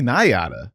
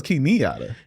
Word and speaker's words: Nyata: Welcome to the podcast, Key Nyata. Key Nyata. Key Nyata. I thought it was Key Nyata. You know, it's really either one.